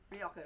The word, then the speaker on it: Rioja: Tempranillo Rioja, or Rioja if you spell it our way. Well, Rioja if you pronounce it. Now- the way the Spanish do.